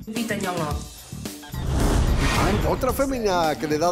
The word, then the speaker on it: Nyong'o: En American, Lupita Nyong'o. Lupita Nyong'o. Lupita Nyong'o.